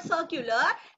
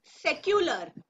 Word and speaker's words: secular: It's not circular, it's secular.